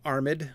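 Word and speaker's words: armèd: Definitely armed. We've got the accent mark on the E to make sure that you pronounce it properly.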